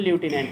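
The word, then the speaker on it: lieutenant: पद होता है लेफ्टिनेंट, उसको अंग्रेजी में ल्यूटिनेंट कहते हैं, क्लियर।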